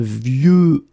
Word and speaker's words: vieux: And the last one is vieux, old. Un vieux arbre. Okay, of course you've got this X at the end, but you don't pronounce it. Okay, so it's vieux arbre.